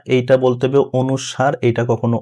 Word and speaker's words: অনুস্বার: এইটা বলতে হবে অনুসার। এটা কখনো অনুস্বর বলা যাবে না।